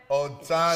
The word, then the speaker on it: Otano: And then last but not least, we have Kerriann Otano. Did I say it right, Kerriann? Otano. She said I nailed it.